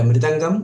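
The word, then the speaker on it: mridangam: uh you mentioned different instruments I would just pronounce them the midangam or balanga the tabla which is of course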